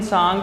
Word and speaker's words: Tsang: कि Chinese Pilgrim Hyun सांग जो है वो हर्षा के टाइम पे आया है। H से ह्यून, H से हर्षा, याद रखना है, ठीक है। ह्यून सांग, TSANG, T साइलेंट रहेगा, ठीक है।